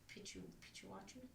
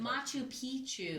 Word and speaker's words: Machu Picchu: no problem with like getting lost in Mount Pikachu, whatever it's called. You know what I'm talking about? Or like if I forget how to say it. Yeah. Mount Pichuachu.